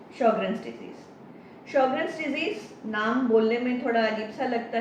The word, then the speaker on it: Sjögren: कुछ लोग इसे "जॉर्गेन्स" कहते हैं, कुछ " शोगुन" और कुछ "सोग्रेन"। लेकिन इसका सही उच्चारण Sjögren's syndrome है।